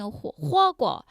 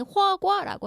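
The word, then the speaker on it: 火锅: 많이 드시는 그 샤브샤브 중국어로는 호고 지금 한국 사람 아예 고라고 해요 어 아예 우리는 호구라고 하는데 호구가 정확한 발음이 그래서 그 호고 안에 중국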